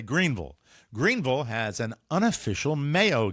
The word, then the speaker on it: Greenville: big loyal following myself included hi everybody now Greenville and that's how you pronounce it not Greenville you say Greenville Greenville has an unofficial Mayo guide which includes